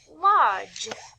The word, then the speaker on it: lodge: and d g e make the j sound like in the word lodge it's spelled l o d g e but when you say the word lodge you hear j at the end as we read through